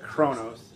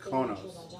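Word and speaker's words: Qo'noS: It's not Chronos, it's Kronos.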